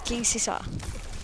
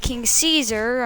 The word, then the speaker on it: King Caesar: gear is versus king king caesar or king sisa whatever you want to pronounce i don't know i'm doing kings you saw because i liked you know it's pronounced king caesar i'm just going to